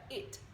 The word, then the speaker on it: it: Então, mais uma vez, a língua tá lá em cima no céu da boca fazendo t. Então fica it.